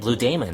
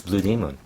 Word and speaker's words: Blue Demon: But it's not saying Blue Demon. It's Blue Demon. Yeah, I'm just pronouncing it wrong.